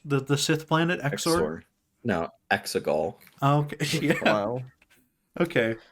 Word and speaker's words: Exegol: I'm sure he's from Exor. Isn't this what the place is called in Star Wars? The Sith planet Exor? No, Exegol.